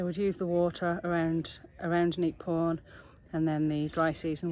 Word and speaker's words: Neak Pean: Welcome to Neak Pean, or Neak Pean as the Cambodians pronounce it, and this is possibly the smallest but one of the most beautiful temples in Angkor Archaeological Park.